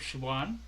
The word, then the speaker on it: Siobhan: So, for example, my name is Siobhan, which is spelled Siobhan.